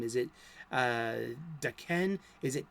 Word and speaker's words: Daken: she said, no, it's Daken, like D-A, small, lowercase D-A, dash, capital K-E-N, Daken.